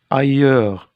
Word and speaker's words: ailleurs: Ailleurs, S. Ailleurs, S.